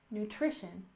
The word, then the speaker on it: nutrition: and next we have nutrition with stress on the second syllable nutrition nutrition and this is the